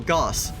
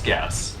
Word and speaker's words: Gauss: heavy shells gas cans those are gauss cannons sorry oh goss okay i'm sorry i never heard that pronunciation for them pretty sure it's gas it could be wrong yeah this one's using